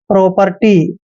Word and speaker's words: property: मात्रा पढ़ते हैं और पी का उच्चारण हम पे करेंगे, आर को रे लिखना है और TY को टी। आर जो है इसके ऊपर लगाएंगे ऐसे, प्रॉपर्टी, प्रॉपर्टी, प्रॉपर्टी होता है